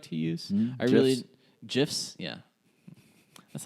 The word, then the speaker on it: GIF: pronounce it wrong it's jiff I will die on this hill the man that created them came out and said it's pronounced jiff there there was no